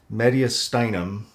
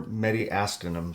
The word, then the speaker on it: mediastinum: this let me right I've heard this pronounced mediastinum or many asking them so just take your pick sounds like I think